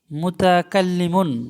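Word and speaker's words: متكلمون: হুম, এখানে একটা ওয়ার্ড লেখা আছে, এই ওয়ার্ডটার উচ্চারণ হলো মুতাকাল্লিমুন।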